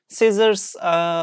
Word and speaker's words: scissors: Turkish like I think scissors like macas yeah in Turkish Maka's so scissors like s NC combination we pronounce it like s okay not kill or